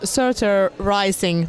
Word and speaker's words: Surtur Rising: Your new album, it's called Surtur Rising.